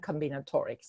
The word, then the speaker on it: combinatorics: So according to your bio, it says your research is in finite geometrics and forgive me if I pronounce this incorrectly, combinatorics.